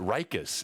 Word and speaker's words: Rikus: I've always pronounced it Rikus. Is it Rikus? Am I pronouncing it wrong? I got called out on YouTube for this. Rikus and I say Rikus. I say Thrikreen. I say Uric. No, it's Rikus.